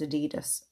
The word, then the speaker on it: adidas: as my adidas although so i say my added ass the song is it's actually pronounced adidas according to them but so my pronunciation